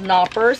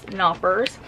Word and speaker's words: Knoppers: I think these are called Knoppers with a silent K, maybe. Or maybe is it Knoppers? Knoppers.